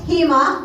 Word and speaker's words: HEMA: The San Diego Housing Emergency Alliance, HEMA, which rhymes with FEMA, by the way, that's purposeful, is dedicated to building such a movement, and I hope everyone here will join us.